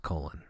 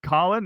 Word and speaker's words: Colin: It's pronounced colon. I got it. So we'll Colin. I'll make sure. Oh, that's right. Aaron asked him, "So how do you say your name? Is this Colin?" He goes, "No, it's colon."